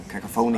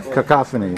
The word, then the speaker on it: cacophony: you over the years I was a big uh cacapon or how do you say it in English fan yeah no not fan you say cacaphony or yeah cacophony cacaphony okay yeah yeah um